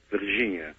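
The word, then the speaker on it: Varginha: Well, I may be pronouncing it wrong. It's V-A-R-G-I-N-H-A. Virginia, okay.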